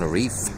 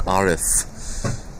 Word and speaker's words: Arif: I tell you what it's actually pronounced Imran Arif but every now and then slip into a Caucasian pronunciation and we're on a reef Arif all right on and